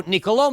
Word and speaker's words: Niccolò: first name is mispronounced you've got an accent on the last oh and that means it's Niccolo rather than Niccolo so niccolò machiavelli is going to